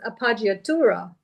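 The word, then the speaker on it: appoggiatura: So so that that word I think is pronounced apagura. That's how I pronounce it because of the double G, right? So it's softer usually when you have the two G's.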